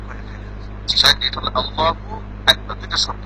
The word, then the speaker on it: আল্লাহু আকবার: এটা হলো আল্লাহু আকবার, দুইটা শব্দ উচ্চারণ করতে হবে, এটা আপনি বলতে হবে। আল্লাহু একটা শব্দ, আকবার একটা, মিলিয়ে বললে আল্লাহু আকবার।